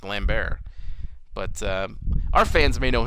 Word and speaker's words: Lambert: people who pronounced it Lambert but it is wrong because he is French and in France it is pronounced lamb bear but our fans may